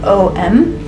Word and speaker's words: om: in multiple sim syllables om i believe is spelled o m but it's more pronounced om like om is meant to resonate from your gut up into your throat and whenever you do